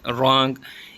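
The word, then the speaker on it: wrong: है H silent है रंग इसमें डब्लू साइलेंट है स्टूडेंट्स जब भी डब्लू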